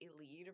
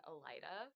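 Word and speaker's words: Elide: and I am still upset that it is pronounced eled rather than Ela which is how I would have like just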